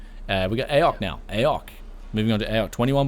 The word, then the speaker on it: AOC: was just thinking though is it pronounced AOK or I always said AOC I just pronounced AOK I I mean that's what when I bought this people when when we go like to the computer stores and stuff everyone just says AOK like everyone just says